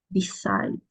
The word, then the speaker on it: decided: She Decided to go about lunch. She decided. Decided. Ahí sí suena todo.